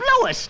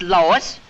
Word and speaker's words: Louis: the plant Lois Lois me name is Lis not Lois J whiz everybody in toates me name wrong it's Louis l o u i